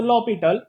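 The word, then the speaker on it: L'Hôpital: लिखो by using लॉपिटल, लेकिन लिखना है एल हॉस्पिटल, pronunciation is अ लॉपिटल लेकिन वर्डिंग में एल हॉस्पिटल rule, we गेट limit t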